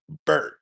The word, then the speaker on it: Byrd: So, it's B Y R D, but sometimes it does sound like bird. So, it's olopo bird. It's like bird in the sky but spelled with a Y.